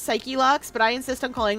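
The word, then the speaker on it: Psyche-Locks: He calls them Psycho Locks, though. They're supposed to be pronounced Psyche Locks, but I insist on calling them Psych Locks.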